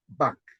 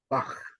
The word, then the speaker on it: Bach: your your hand Sebastian Bach so at the end of his name is unfortunately in English we say back but I'm just saying it's a Bach Johan Sebastian Bach okay